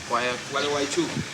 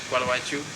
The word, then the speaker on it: Gualeguaychú: Gualeguaychú. Gualeguaychú.